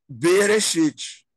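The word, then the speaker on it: בראשית: Então, ó, essa palavra aqui em cima, eu leio Bereshit. O B aqui é essa primeira sílaba aqui. O Re é essa segunda aqui. E o Shit é essa aqui.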